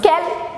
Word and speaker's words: quel: They are all pronounced quel, but spelled differently.